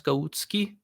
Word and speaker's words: Golucki: The real pronunciation is Golucki. But that's that's a tough pronunciation if you don't speak like a Eastern European language.